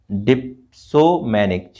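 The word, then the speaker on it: dipsomaniac: एंड वन who addict to hard drinks को मतलब वो एडिक्टेड है, तो इसको बोलेंगे डिपोमैनिक, ठीक है, डिप्सोमैनिक, ठीक है, इसको ध्यान रखना प्रोनाउंसिएशन को थोड़ा सा।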